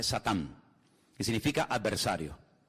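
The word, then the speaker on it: שטן: En hebreo no se dice Satanás, se dice Satán, que significa adversario.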